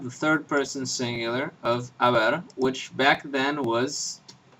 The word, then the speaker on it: haber: So, you had this verb, haber, in the old form, which was a. The H is not pronounced, just like in French, just like in Italian, just like in Latin, and y, which was a word that meant basically there.